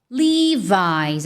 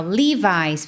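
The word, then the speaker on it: Levi's: Só que no inglês, o natural, na verdade, é livis. Até coloquei um esqueminha aqui para você, ó. Livis, para facilitar a sua vida. Livis. Livis, é assim que você pronuncia.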